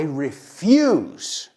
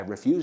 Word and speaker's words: refuse: Pero se escribe igual. Refuse? Refuse? ¿Qué? Yeah, I didn't say they were pronounced the same.